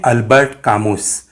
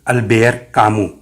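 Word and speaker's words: Albert Camus: लिखते हैं अल्बर्ट कामूस, लेकिन पढ़ते हैं अल्बेयर कामू, क्योंकि फ्रेंच भाषा में अंत के अक्षर कई बार साइलेंट हो जाते हैं और उनका उच्चारण थोड़ा उनके ही टाइप का होता है।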